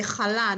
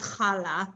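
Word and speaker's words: challah: Or you say chala, not chala, but you know, we all kind of.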